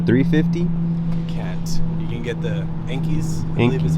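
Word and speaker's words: Enkei: bbs's with the 350 you can get the enkis is how you pronounce them oh okay so what about as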